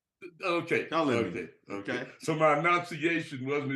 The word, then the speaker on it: Cullinan: How do you say it, Madison? Cullinan. Okay. Cullinan.